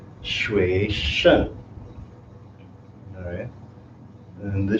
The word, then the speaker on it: 学生: 学生 is how you say student.